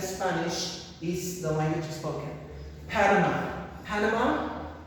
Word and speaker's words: Panama: Panama, Panama, Panama is like Canada, very similar in pronunciation, and we have Panamanian is the mononym or nationality, Panamanian, and Spanish the spoken language.